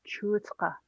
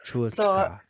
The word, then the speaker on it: Chuutsqa: So Uxa's Chuutsqa. Chuutsqa. Ka. Yeah. Chuutsqa. So for the sound ka, Yeah. it comes from the back.